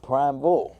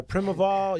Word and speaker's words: primeval: See I thought it was prime bull the way it's spelled cuz prim Yeah. Primaval. Yeah. It doesn't look like prime evil at all.